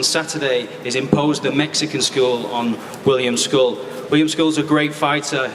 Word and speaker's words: Scull: Let's turn to the fighters and let's start to my left, William School, the reigning IBF 175 lb champion. And just for for clarity, William, it's school, right?